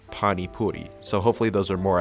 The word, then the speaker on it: pani puri: Also for this doodle, it's not pronounced Pani Puri, it's Pani Puri, so hopefully those are more accurate.